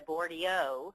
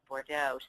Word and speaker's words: Bordeaux: whatever whatever merlot and the boardio of 40x because people cannot pronounce bordeaux so how you handle